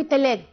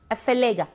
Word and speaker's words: الثلاجة: يعني أنا في البيت بقول لبنت هاتي حاجة من التلاجة، ده غلط. الثلاجة تمام.